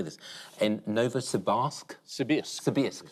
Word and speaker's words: Novosibirsk: In Novosibirsk? Sibirsk. Novosibirsk.